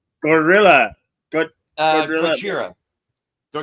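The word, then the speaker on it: ゴジラ: Gojira. Yeah, Gojira is what gorilla. he's. Yeah. Yeah, which is the Japanese pronunciation.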